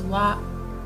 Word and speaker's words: は: So although here this is hiragana ha, but sometimes we pronounce it as wa.